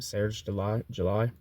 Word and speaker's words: Serge July: Along with Maoist Serge July, I guess that's his name, Serge July, or Serge July, like July, like the month.